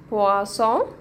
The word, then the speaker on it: poisson: هنطقها اه زي سمك بواسون مشروب بواصون طب ايه الفرق بينهم؟ حرف البل في الاول حرف البل في الاول البي ده بيتنطق ب والبي دي بتنطق ب ب مش بطلع هوا فدي بقولها بواسون دي